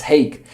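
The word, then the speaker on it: Hague: Yeah, I finally uh pronounced this word correctly. It's hey because in Ukrainian we say haha.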